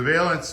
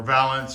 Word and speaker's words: valance: make a veilance so the veilance is or Valance or veilance depending how you guys want to pronounce it it's going to fill